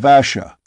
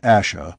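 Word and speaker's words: Ashe: am a kin of Asha we return to the hill Ash not Asha but Ash Ross though sure of that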